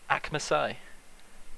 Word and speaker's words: Akmasai: With his pal Akmasai, I think is how you pronounce it. Yeah, that's correct.